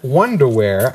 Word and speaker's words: Onederwear: Not underwear, Onederwear, and it's spelled O-N-E, Onederwear.